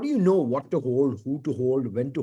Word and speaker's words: HODL: They still call it hold, but they spell it as HODL.